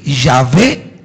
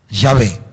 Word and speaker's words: Yahvé: Los lingüistas hebreos, o mejor dicho, lingüistas estudiosos del hebreo, dicen que Yahvé es más o menos la pronunciación cercana. Yahvé.